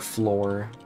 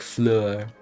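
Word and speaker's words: Fleur: it no it's like Flur you basically pronounced it like that no no you got you got you got you you got to use it like the French tone you got to say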